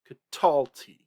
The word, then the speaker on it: katalti: Notice that in katalta, and catalti. Those two, the accent is not on the final syllable. In catal and catala and catalt, those, the accent is on the final syllable. But in catalta and catalti, those accents have shifted. They are on the R2 syllable.